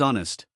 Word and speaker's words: honest: honest Next is honest. The H is silent. We say honest.